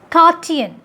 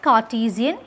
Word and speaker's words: Cartesian: the 17th century french philosopher that's how you pronounce it it is kartian not cartesian it is kartian this cartoon liberated an autonomous